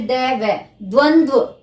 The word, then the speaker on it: द्वंद्व: द व फिर द व, द्वंद्व। इसका उच्चारण बार बार करके देखना आप सभी, द्वंद्व समास।